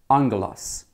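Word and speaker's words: ἄγγελος: The word angel, it's actually a transliteration of a Greek word, which is pronunciation would be angelos.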